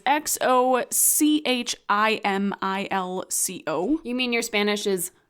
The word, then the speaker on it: Xochimilco: So, the Island of Dolls is located in the channels of Chimilco. Someone help us with the pronunciation there. Because my Spanish is not good. It is Xochimilco.